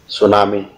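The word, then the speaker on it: tsunami: तो इसी बात को समझने के लिए हमारे पास और भी कई उदाहरण हैं, वो है सुनामी, इसमें टी साइलेंट होता है, इस टी को सोम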